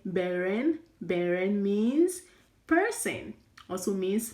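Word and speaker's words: 本人: Okay, you can also say beren.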